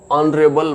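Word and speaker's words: honorable: फिर आगे आता है एन ऑनरेबल मैन, हॉनर होता है लेकिन ऑनरेबल ही बोला जाता है, H उसका साइलेंट हो जाता है।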